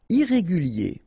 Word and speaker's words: irrégulier: Irrégulier. Okay, remember, IER at the end of your word here, it will be IE, okay? Irrégulier.